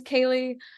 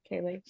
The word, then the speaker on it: Ceilidh: My name's Kaylee. It's pronounced like Kaylee.